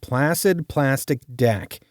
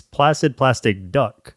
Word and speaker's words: Placid Plastic Duck: you want to talk about too, which is Placid Plastic Deck, which is slightly a tongue twister. It's a deck builder, card battler. A tongue twister in that you said it wrong. Yeah. It's Placid Plastic Duck.